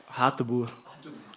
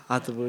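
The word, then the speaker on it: Hateboer: Hatteboer. Ha, avec un H. Hatteboer, oui.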